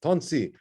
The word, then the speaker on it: Tonsi: And just before I start, just to clarify, I was informed that the pronunciation is Tonsi. That's right?